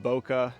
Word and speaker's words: Bokeh: I'm pronouncing it Boca because Simon says it's a play on words from mocha latte, Boca latte.